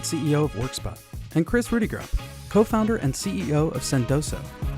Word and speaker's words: Rudeegraap: Sinha, co-founder and CEO of Workspot, and Kris Rudeegraap, co-founder and CEO of Sendoso. All right. Well, welcome to the Category Creators Podcast. Very excited. I have two great folks here, Amitabh Sinha from Workspot and Kris Rudeegraap.